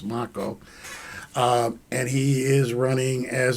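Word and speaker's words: Macho: Moving on, though, we look at our next candidate, and we're going to be interviewing our next candidate, John Mako, M-A-C-H-O, it's pronounced Mako, and he is running as a Democrat in CD6 here.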